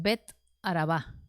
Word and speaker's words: Bet Araba: donde juan estaba bautizando bueno de tábara tiene el acento en a vara verdad pero en realidad es bet araba y bet araba significa casa del desierto y cual desierto el